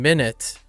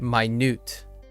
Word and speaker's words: minute: And obviously, it's the difference between minute and minute.